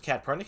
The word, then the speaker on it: Katpurnicus: Yeah, it's a bit long, and sometimes people think the C is pronounced S, so they're like cat or like they'll kind of stumble on it.